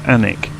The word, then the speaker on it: Alnwick: Alnwick here, oh Alnwick as it's spelled, it's Alnwick.